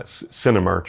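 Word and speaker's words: Cinemartyr: band uh Cinemark or it's like Cinema and marker like someone who dies for their religion put together Cinemark or how do you spell it c-i-n-e-m-a-r-t-y-r my Irish accent comes out when I say it marcher martyr yeah I gotta say like an American Cinemark Cinemas Carter yeah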